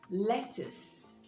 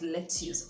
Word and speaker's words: lettuce: CC you see e lettuce lettuce the stress is on the first syllable lettuce is that green